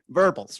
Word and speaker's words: verbals: verbals okay yeah verbals or primate verbal right obviously it rhymes with gerbil that let us know